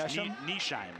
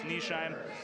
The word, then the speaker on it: Nesheim: All right, I think I think we're pronouncing coach's name wrong. It's Nisham. I thought that was Nesham. Yeah, I'm I'm being told Kelly Berg tells us it's Nesheim. We apologize.